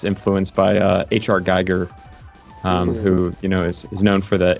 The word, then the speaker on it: Giger: Yeah, the pronunciation of Geiger in Japanese is Giger. Oh, okay. She was like, oh yeah, Giger. Makes sense. 名前が一致しました。はい。 Some people say it that way here too.